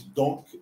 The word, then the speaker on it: donc: Mas eu acho que o dom você diz donc e você diz dom, Donc. você pronuncia o C justamente para Para diferenciar do diferenciar, dom, exato.